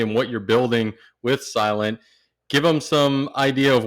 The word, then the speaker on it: SLNT: Well, all things silent, it's spelled SLNT.